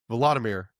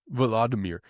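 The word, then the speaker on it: Volodymyr: this guy is Vladimir. Yeah, I always say it wrong. Volirmir. Anyways, they're meeting with him.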